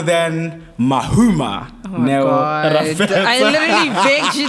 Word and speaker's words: Rapetsoa: Rapetsoa, am I saying it right? Rapetsoa, yeah. I always feel like I say your surname wrong.